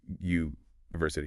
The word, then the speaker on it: university: it's actually more like a Y sound like in the word you university. Yeah. Uh yeah, that's a consonant sound. It is. So in this case, even though it starts with, we say a university. A university.